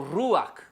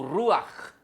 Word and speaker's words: ruach: A alma é o ruach, ou ruach no hebraico, tá? Tem essa pronúncia gutural, né?